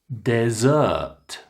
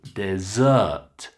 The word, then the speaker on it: dessert: Dessert. Can you hear we hit the second syllable? Dessert.